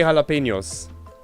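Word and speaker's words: jalapeños: it slipped thanks say jalapenos i know that j is pronounced h with like an h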